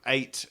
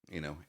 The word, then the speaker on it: ATE: But I mean, it's spelt 8 as in the past tense of eating, ATE.